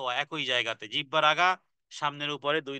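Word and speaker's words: ظ: ত দাল ত তা দাল ত এক একই জায়গাতে জিহ্বার আগা সামনের উপরে দুই দাঁতের গোড়ার সাথে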